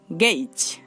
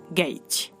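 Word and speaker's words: gauge: Next AU, এই দুইটি লেটারও এই সাউন্ড উৎপন্ন করতে পারে, যেমন গেইজ গেইজ। দেখুন এখানে আমরা এ এবং ইউ কে পাচ্ছি আর তার সাউন্ডটা হচ্ছে এই, গেইজ।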